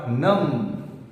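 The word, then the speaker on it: numb: शून्य हो गए है my hands are नम B silent यहां पे तो गेट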